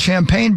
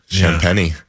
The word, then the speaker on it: Champagnie: Well, there's a a guy who should be called Champagne, but it's not. Champagnie.